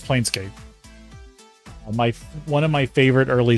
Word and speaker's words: Planescape: Can never remember how to say it because I always want to say Planes Chase. No, it's Planescape.